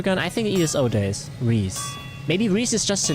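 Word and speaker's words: Rhys: Reese is a traditional masculine given name of Welsh origin meaning ardor passion or ardor I don't know the word passion or enthusiasm pronounced as ree okay thank god I'm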